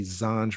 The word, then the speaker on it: Zanj: In Wikipedia, it mentions the Zanj dynasty, and Zanj is in our Arabic is pronounced as Zanji, Romanized Zangi, Turkish Zenchi,